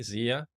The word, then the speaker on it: Zia: Am I pronouncing it correctly, Zia? Yes, you're pronouncing it right.